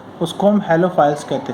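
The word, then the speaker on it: halophiles: हेलोफाइल्स कहते हैं। कहीं कहीं पर इसका प्रोनाउंसिएशन आपको हेलोफिल्स भी देखने को मिल सकता है, लेकिन हम इसको हेलोफाइल्स ही पढ़ेंगे।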